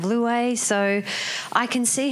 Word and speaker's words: Louez: challenging i'd be hyphenated it'd be l-o-u-i-s instead of luay so i can see